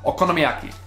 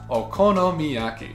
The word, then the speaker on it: okonomiyaki: on my list is something that that is six syllables long and very satisfying to say but even more satisfying to eat which is okonomiyaki or okonomiyaki these Savory Japanese pancakes